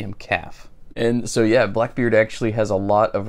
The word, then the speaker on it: BLKBRD: be Blackbird Shoemaker, and it is pronounced the same way, Blackbird, not Blackbeard.